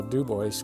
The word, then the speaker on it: Dubois: the name that we wanted and that's how do boys got its name the irony to the whole